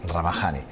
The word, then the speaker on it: Rhamajani: contarlo bien, porque realmente Ramajani, es que él me ha dicho que no lo pronuncie como realmente deberíamos de pronunciarlo, me ha dicho que hay que españolizarlo, y entonces Ramajani.